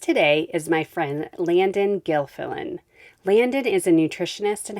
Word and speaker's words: Gilfillan: Gilfillan.